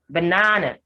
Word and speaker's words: banana: has the schwa sound banana has the schwa sound for the first a and the schwa sound for the third or the last a in fact only the second syllable is stretched so you have banana banana so the first and the last is car on stress and they have the schwa sound miracle miracle only